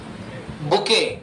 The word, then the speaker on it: bouquet: फूलों का गुलदस्ता, बुके, ए बुके, सबके आगे ए लगाना जरूरी, ध्यान दीजिएगा, ए बुके, BOUQUET, BOUQ क्वीन वाला, UET। अब इसको बकेट नहीं बोलेंगे, इसे बुके बोला जाता है।